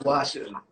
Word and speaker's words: gua sha: So what made you get deep into like doing the how you pronounce it, geisha or gashas? Gua sha. I think it's Gua sha.